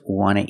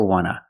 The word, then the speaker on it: want to: want and we see the T and want is an N so we don't pronounce a t and we say w wna I just want to eat want to or want to you can pronounce it want to or wna both pronunciations are correct I just want to